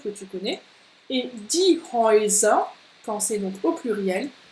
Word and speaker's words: Häuser: Et die Häuser, quand c'est donc au pluriel, on a ici le Oi. Häuser. Häuser. Die Häuser. Et puis on l'a aussi dans träumen. Träumen. Donc là, Oi, Oi. Donc tu vois, c'est un son double.